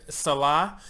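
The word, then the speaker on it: Salach: It's O-R space S-A-L-A-C-H, and he says it's pronounced Salah, S-A-L-A-H.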